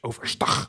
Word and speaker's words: overstag: It sounds really Dutch, overstag. Yeah. with the hard G.